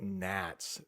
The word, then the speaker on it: gnats: Yes, I know there is a G the beginning of that word. I don't know why. You know, we do that in English. Sometimes we will just put letters in words, but we don't actually pronounce them.